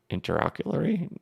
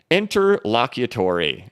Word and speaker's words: interlocutory: their into interlock can't I can't pronounce it interlocutory oh my gosh that was brutal into Locker Larry we're gonna we're gonna get the correct wording for you guys intraocularly no okay interlocutory there we go uh the SEC filed